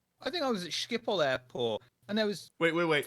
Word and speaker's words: Schiphol: I think I was at Schiphol Airport, and there was wait. Fucking wait. huge Say that airport. again. Say that again. Which airport? Schiphol. Skippo.